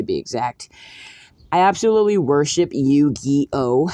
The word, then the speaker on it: Yu-Gi-Oh!: I absolutely worship Yu-Gi-Oh! It's actually spelled Y-U-G-I-O-H, and it's pronounced like so.